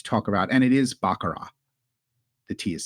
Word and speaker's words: baccarat: interesting to to talk about and it is bakara the tea is silent bakara it's not backarat it's not backarat backat it's bakar bakar can